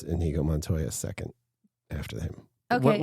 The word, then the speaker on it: Inigo Montoya: Inigo Montoya, is that how you say it?